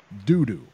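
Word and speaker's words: Doudou: Alexander kvass Dick versus doo doo this is his name that's not me making this up this is his name I've looked several different places this is how you pronounce it doo doo how the wing announcer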